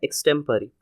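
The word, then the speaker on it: extempore: एक जो है वो स्मूथली पढ़ा जाएगा अनक्सेंट वे में स्टेम पे थोड़ा जोर रहेगा और परी का स्मूथ वे में अनक्सेंट वे तो इसका प्रोनंसिएशन हो जाएगा एक्सटेंपरेरी।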